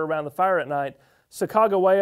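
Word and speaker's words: Sacagawea: the fire at night Chicago waya our Chicago Waya is certainly the way we pronounce it they want to know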